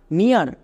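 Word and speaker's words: near: যেমন এন ই এ আর, নিয়ার, এফ ই এ আর, ফিয়ার, টি ই এ আর, টিয়ার।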